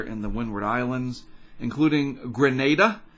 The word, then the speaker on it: Grenada: the windward islands including Grenada Grenada with a long a someone sent me a was it a comment I think it was on YouTube that is pronounced Grenada so I will trust